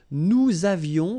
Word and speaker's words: nous avions: Nous avions, let's make this beautiful liaison here. Nous avions, okay?